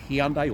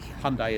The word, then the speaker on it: Hyundai: Whereas a Mazda dealer in Australia is very popular, and Toyota dealers, Honda dealers, even Kia, Hyundai, or Hyundai as Americans say, those dealerships, Ford, Chevrolet, they're more popular.